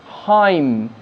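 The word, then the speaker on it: hymn: ড্যাম, এনের উচ্চারণ নেই, হাইম, এখানেও এনের উচ্চারণ নেই।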